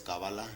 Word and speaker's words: cábala: conserva su significado original dentro de la pronunciación hebraica hay una pronunciación que es la separada la pronunciación es canadá si algunos acentúan al principio otros acento en el final pero lo más tradicional lo más lo más antiguo lo más verdadero es cábala local no cábala y por ahí me